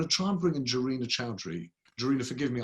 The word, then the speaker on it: Jarina: I'm going to try and bring in Jarina Chowdhury. Jarina, forgive me, I don't know whether or not it's a hard J or not a hard J.